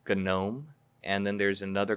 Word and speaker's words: GNOME: proper terminology but yes others may say gnome because it it it is spelled like a garden note but uh the the first is called gnome and then the second